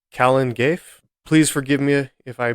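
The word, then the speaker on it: Calan Gaeaf: this one up either it is spelled c a l a an it's two words and the second word is spelled GA a e a f Kalen G please forgive me if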